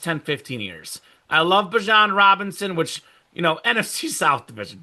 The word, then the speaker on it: Bijan: Pronounced Bijan, not Bijan.